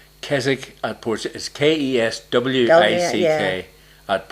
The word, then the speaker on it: Keswick: over here yeah well we say keswick which is correct that's the way that people say it is that right is not the way you say it all right it's a silent w oh i say it